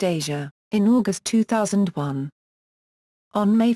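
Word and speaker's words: Eja: They were married on December 28, 1993, and Twain gave birth to their son Isha, pronounced Asia, in August 2001.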